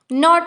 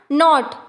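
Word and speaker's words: knot: नॉट में के silent होता है। गांठ नॉट।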